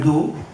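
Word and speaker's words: Oô: Quand vous montez au-dessus de Luchon, vous montez 1 heure à pied, vous arrivez au lac d'eau. Ça s'écrit OO. Lac pyrénéen en 2 lettres pour les mots croisés.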